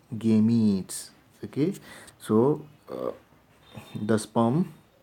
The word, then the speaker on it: gametes: production of gametes okay it is not game AIDS but rather we should pronounce as game eats the cage so the